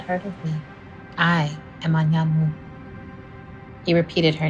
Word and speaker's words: Anyanwu: I know how to pronounce Anyanwu. It's an Igbo name.